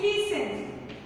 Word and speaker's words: listen: Now next is listen. Now tell me which is the silent letter in listen?